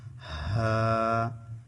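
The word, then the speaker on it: ح: করব সেভাবে আপনারা আমার সাথে সাথে প্রত্যেকটা অক্ষর উচ্চারণ করার চেষ্টা করবেন এতে করে আপনাদের শিখা অনেক সহজ হয়ে যাবে দ্বিতীয় নাম্বার মাখরাজ হচ্ছে কন্ঠনালীর মাঝখান হতে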